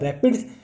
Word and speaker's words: RAPD: RAPD marker pronounced as rapid, like a single nucleotide polymorphism marker pronounced as SNPs.